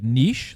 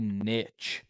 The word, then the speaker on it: niche: If when people say when like niche, like that's the right way to say it. Yeah. And people say niche. No. And people genuinely think that's the way to say niche is niche.